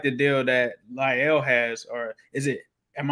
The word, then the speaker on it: La'el: that asked him, and he said La'el. So yeah, I want to say his name right. So La'el, similar to that kind of deal, I think is what you're looking at.